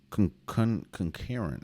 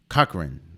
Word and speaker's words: Cochran: had 27 Olivia conquering concurrent I know I missed your name wrong Cochran there you go Cochran she had 20 and God she had 20 and 14.